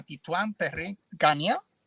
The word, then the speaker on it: Titouan Perrin-Ganier: Voy a estar entrevistando a Titouan Perrin-Ganier. I think that's the right pronunciation, right?